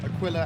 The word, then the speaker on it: Aquila: in our constellation a killer Aquila was it Aquila as in uh that's how you say it